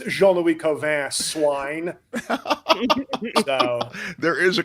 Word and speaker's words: Cauvin: There's a very French twist to it. Yeah. Yeah, it's a very disdainful. Like you're a little snotty. That last syllable in most French words has to have like disdain. So it's Cauvin.